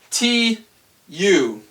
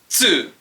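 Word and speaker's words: つ: Okay, next is the T-U. Now you might be thinking tu, but that's not correct. It's actually pronounced tsu. Tsu, like a T and an S put right together, like let's, tsu, letsu, tsu, tsu.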